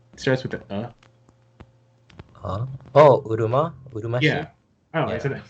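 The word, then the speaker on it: Uruma-shi: Oh, Urumashi?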